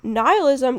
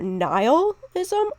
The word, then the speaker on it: nihilism: Now, nihilism can be pronounced either nihilism or nihilism, and that's an actual English word.